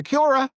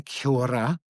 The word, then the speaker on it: kia ora: If you walk into the staff room and go, kia ora, and they go, oh, you don't actually pronounce it like that. You have to roll your R. You have to say kia ora.